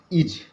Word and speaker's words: is: दोस्तों, जब मैं स्पेलिंग बोलूं तो आप यहाँ ध्यान दीजिए और जब मैं इसका उच्चारण करूं तो आप इसको इस पे देखिए। इज, IS इस नहीं पढ़ेंगे, इसको इज पढ़ेंगे।